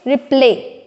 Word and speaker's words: रिप्ले: होगा ठीक है ना सो इट्स रिप्ले ठीक है इट्स नॉट रिप्ले इट्स रिप्ले हम बिना अगर हम री पर स्ट्रेस डालेंगे तो ये हो जाएगा रिप्ले ठीक है लेकिन जब